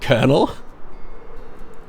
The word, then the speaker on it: colonel: What on earth do you mean that kernel is pronounced the same way as those little things that make popcorn are? Was it Colonel? Like a popcorn kernel.